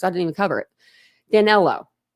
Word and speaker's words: Danelo: didn't even cover it danelo that's it danelo not Daniel whatever danelo um so